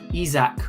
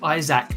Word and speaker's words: Isak: summer and that regards Alexander isak or Isaac depending on how you want to pronounce it now team news and ticks had been told that isach will be very very